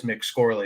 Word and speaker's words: McScorley: I think the only thing that's actually changed is that Brendan McScorley, and that is the pronunciation of his last name. It is McScorley because that's what that kid does.